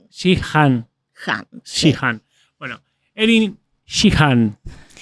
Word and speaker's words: Sheehan: Y se pronuncia Shihan.